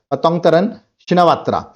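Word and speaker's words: Paetongtarn Shinawatra: that is पतंग तरण याद रखिए ऐसे नाम प्रोनाउंस किया जाएगा पतंग तरण शिनावात्रा ओके जो मैंने बताया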